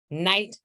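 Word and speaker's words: knight: in search of discoveries night notice the K is silent a medieval Soldier a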